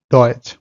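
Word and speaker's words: Deutsch: আর টিএসসিএইচ যেটার উচ্চারণ হলো সিএইচ, সিএইচ এর মতো, যেমন চ এর মতো, টিএসসে আ এটার উচ্চারণ হলো চ এর মতো, যেমন ডয়েচ।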